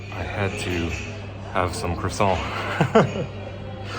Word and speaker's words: croissant: As a good Frenchman, I had to have some croissant. I'm even saying it in English and not in my French accent because otherwise that would be croissant. Yes, that's the correct way to say croissant.